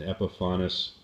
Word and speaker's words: Epiphanes: That said, I painted the boat with an Epiphanis, which is actually how it's pronounced, an Epiphanis yacht enamel, it's called, in the color called Buff.